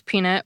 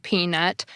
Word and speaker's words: peanut: Some speakers pronounce peanut with stress only on the first part, the same way you'd stress only the first part of the name Chapman. Other speakers pronounce each part of the word peanut as a stressed syllable, similar to the way you'd stress both parts of Batman.